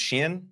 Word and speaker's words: Shein: And that's how you pronounce, is that Shine? Is that the other platform? I've always heard it pronounced Shein, but Shein?